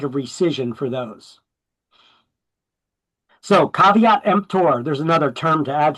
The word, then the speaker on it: caveat emptor: caveat emptor is how it's pronounced. It's not kvter. It's caveat emptor.